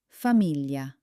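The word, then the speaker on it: famiglia: First, let's try familia. Hear that L sound? It's soft like the lee in the English word million.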